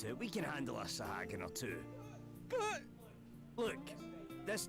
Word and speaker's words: Sahagin: Oh, that's how you say that, Sahagin.